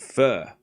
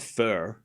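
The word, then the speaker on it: phở: It's not fur. It's pho. Anyways, 15 love. 15 love. It's pronounced fa.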